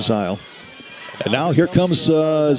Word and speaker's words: Zeal: Number 22, that's Zeal, Phoebe Zeal. Or Zile, I believe they pronounce her name, Zile.